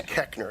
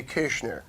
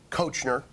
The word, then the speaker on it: Koechner: with an OE OE but it's pronounced you were giving me the pronunciation it's the correct mispronunciation is keckner it's a German name it should be kishner but everyone looks at that name and goes I don't know like it looks like coachner you were saying cockner